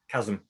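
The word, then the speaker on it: QASM: talk about it often which one is it chasm chasm but not as in whole but you know with a q obviously um some of these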